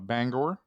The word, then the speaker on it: Bangor: Played about 10 years, was born in Bangor. Not Bangor. Banger. What's that? Banger. I prefer to call it Bangor. Okay, you go ahead. Yeah, I like the full pronunciation.